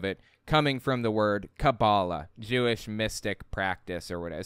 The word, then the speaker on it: Kabbalah: And by the way, it's pronounced cabal. The root word being, or the etymology of it, coming from the word Kabbalah, Jewish mystic practice or whatever, some Jewish mysticism thing or whatever.